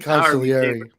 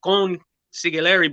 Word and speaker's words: consigliere: Consigliere. Right. I always want to say it like Spanish. I always say consigliere, but I'm pronouncing it wrong.